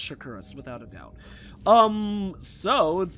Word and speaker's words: Shakuras: to be pretty cool I think it's called shakuras it's it's pronounced shakuras without a doubt um so there's going to